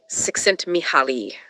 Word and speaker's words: Csikszentmihalyi: Mihaly Csikszentmihalyi. I'm never sure if I'm pronouncing that right.